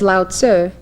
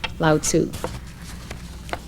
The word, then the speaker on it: Lao Tzu: with me loud sir in the transliteration from chinese to english the u in sir was meant to be a short you so it's loud sir and not lao tzu in taoism the dao